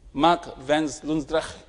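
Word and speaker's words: Mark van Loosdrecht: So his pronunciation was Mark Vens Lundsrecht.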